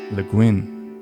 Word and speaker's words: Le Guin: listening to a heron dance right ursula k le guin am i pronouncing it right yes poetry and music of